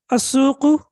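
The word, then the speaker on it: السوق: Also, please look at the pronunciation of al. Sometimes you see that I'm pronouncing al, and sometimes I'm not pronouncing al. Al-matbakhu, al-ghurfatu, al-jami'atu, walakin as-suqu, the market. Al-yabanu, Japan.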